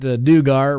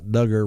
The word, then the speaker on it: Duggar: him a call yeah scott dugar rhymes with hugger duggar rhymes with hugger that's